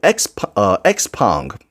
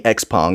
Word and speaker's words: Xpeng: It's titled Xpong, Robotics Unicorn for Kids.